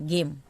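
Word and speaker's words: game: भी किसी वर्ड के लास्ट में ई आता है तो साइलेंट होता है जैसे कि मैंने यहां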